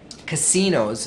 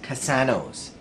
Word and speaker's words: casinos: He mispronounced gardening, for example, and he mispronounced casinos, he pronounced casanos.